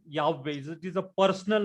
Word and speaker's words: Yahweh: Yahweh is the proper pronunciation.